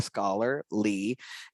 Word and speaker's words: Scholar Lee: dr scholar lee and that's how it's pronounced like scholar lee and i'm gonna let